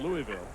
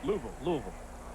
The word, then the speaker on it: Louisville: since his call-up from Louisville Louisville Louisville no actually Louisville you got to take one more syllable out of it it's two syllables Louisville thank you thank you